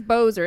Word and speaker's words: Bozer: Is it Bowser or Bozer? Bowser? Boozer? It says Bozer, and they spelled it out phonetically.